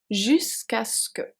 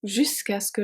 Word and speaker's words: jusqu'à ce que: This one is a bit hard to pronounce. Jusqu'à ce que.